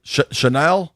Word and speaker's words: Chenal: Styles, Chenal, did I say it right? Chanel?